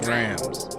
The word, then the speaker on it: Drams: First and foremost, it's pronounced Drams. Not drums.